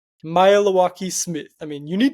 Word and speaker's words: Maealiuaki: It's easy if you kind of break it up into 3 kind of syllables and say it fast. Maealiuaki. That's it? That's it. Maealiuaki.